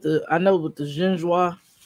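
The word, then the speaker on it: génoise: That's with the, I know, with the genoise. How do we pronounce it?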